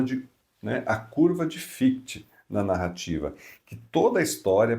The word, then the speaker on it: Fichte: Em alemão a pronúncia é essa, mas em português a gente fala que fic, não tem problema nenhum.